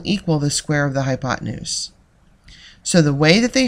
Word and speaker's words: hypotenuse: the longest sign yes that's a funny word hypotenuse is how you pronounce that the hypotenuse is always the longest